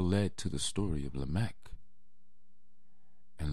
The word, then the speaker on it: Lamech: Enoch, that all led to the story of Lamech. And Lamech, or Lamech, however you want to pronounce his name, had two wives, Adah and